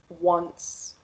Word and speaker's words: once: word at all so the first word once we pronounce it with a w sound even though there's no w in the word and the second word